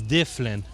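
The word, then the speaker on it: Dyflinn: When we came here, the 3rd settlement, the Vikings' pronunciation of Dublin is Difflin.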